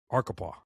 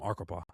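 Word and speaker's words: Arkapaw: win this award uh for centers uh Autumn Archipa mispronounc his name. Autumn Arupa.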